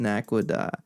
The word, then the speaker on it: Naquadah: lot of pronunciations, but I am consistent with Naquadah. And I'm gonna keep saying it. Phoenix, go away. Naquadah. You can Google it. It's pronounced Naquadah.